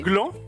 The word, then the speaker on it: gland: justement, le gland est intéressant parce que le gland a un rapport avec C'est vrai que c'est intéressant. C'est vrai. le gland a un rapport avec le chêne, Mais le D n'est pas prononcé.